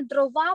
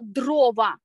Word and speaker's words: дрова: Запам'ятайте, будь ласка, не дрова правильно, а правильно дрова.